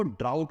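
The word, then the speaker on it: drought: इसको ड्रॉट पढ़ते हैं और इसको ड्राउट पढ़ते हैं।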